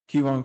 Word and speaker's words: Keyron: Keyron Cross, I believe it's pronounced. Yeah, it's Keyron.